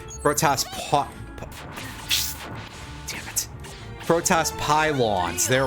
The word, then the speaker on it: Protoss: called, I don't remember, Protoss pylons or something. Sorry, I forgot to pronounce that O correctly. Protoss damn it.